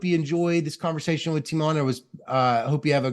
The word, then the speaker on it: Tymon: First name would be more like Tymon.